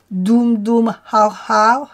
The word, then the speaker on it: Dum Har Har: Ce mantra a la particularité de se chanter dans un sens puis dans l'autre. Dum Har Har Har Har Dum.